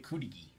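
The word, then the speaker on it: Cudighi: Is that how you... That's how you pronounce it, right? Kudigi? Kudigi. There we go.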